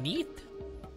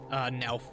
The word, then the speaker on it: Nelth: You mean that neath? I'm gonna make sure I'm pronouncing that right. Alright, it's pronouncing Nelth, not Neath.